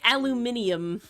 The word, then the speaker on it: aluminium: and someone went the the Brits say it aluminium aluminium they add a whole syllable in there aluminium very weird no